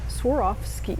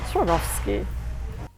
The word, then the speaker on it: Swarovski: go skiing anymore so you swore off skiing and that would be an easy way to remember how to pronounce it Swarovski of course in German it's swarovsky I found some great